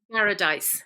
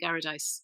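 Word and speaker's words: Garadice: How do you pronounce that? Garradice.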